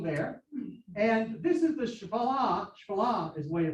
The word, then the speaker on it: Shephelah: And this is the Shephelah is the way to pronounce it, which is the low hills.